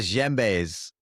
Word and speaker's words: djembe: But they're called the No, those are djembes.